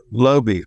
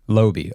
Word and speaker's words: Laube: Laube. Laube.